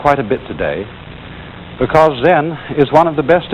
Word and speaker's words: Zen: c e n and that is the japanese way of pronouncing the chinese word chan and this in turn